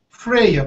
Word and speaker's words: Freya: wanted to name her Freya pronounced like if are okay spell f r ej a pronunciation friar and Freya yes I will pass